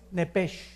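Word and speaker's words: nefesh: la palabra alma es nepes en el hebreo apúntalo nepes se pronuncia nepe porque la ch en hebreo es j nepe y la palabra espíritu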